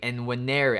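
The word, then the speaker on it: Nwaneri: Weneri. I think it's Weneri. I don't think you pronounce the N.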